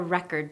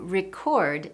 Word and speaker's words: record: today in that sentence, I'm using record as a noun, but this word could also be a verb and in that case I need to change which syllable I stress. For example, I'm going to record some music today. Record the syllable. Stress has changed and as a result, native speakers immediately recognize it as a verb.